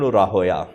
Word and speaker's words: راہویہ: کہ امام اسحاق بن راہویہ، اس کا صحیح تلفظ راہویہ ہے محدثین کی زبان میں، ان کی کتاب ہے، ہاں جی، ویسے راہویہ بولتے ہیں، ہاں جی، راہویہ اس کا صحیح تلفظ ہے، سیبویہ، ہاں جی، سیبویہ